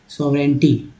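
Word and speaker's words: sovereignty: जी एन में जो है जी जो है साइलेंट एन का उच्चारण होता है, टी बाई टी होता है। सॉवरेंटी, ठीक है, सॉवरेंटी लोग बोलते हैं सॉवरेंटी, लेकिन सॉवरेंटी, सॉवरेंटी एंड इंटेग्रिटी।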